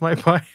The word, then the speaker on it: mypy: So type checking, I've used MyPy before, or I think that's pronounced MyPy.